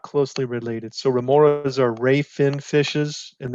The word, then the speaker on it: remoras: Another question, lamprey look a lot like remoras. Are they related? Am I saying that right? Remoras? Wow. Yes. Yes, Cool. You're saying it right.